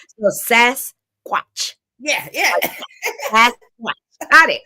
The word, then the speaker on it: Sasquatch: I can't I cannot I had to go listen to the pronunciation like SAS watchat like a watch s watch but when you say Sasquatch yeah yeah sasat got